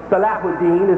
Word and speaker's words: Salahuddin: You perhaps heard the story of King Richard and Salahuddin is correctly pronounced his name.